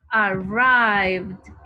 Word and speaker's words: arrived: Entonces, como es un sonido, digamos que son sonidos que vibran, por eso se pronuncia como una D. Entonces yo digo arrive, arrived, con D.